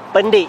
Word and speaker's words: Pendek: Baca betul-betul, bukan pendek ya. Sebenarnya cara baca yang betul ialah Pendik di Kota Baru, Kelantan.